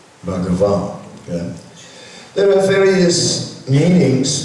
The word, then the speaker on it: Bhagavan: So the word can be broken up in 3 syllables. Bhagavan.